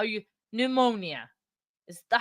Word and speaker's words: pneumonia: I don't know why, but I always read that with the P, pneumonia, but it's not. I know it's not. I think it's pneumonia, and I think that's how you say it because the P is silent.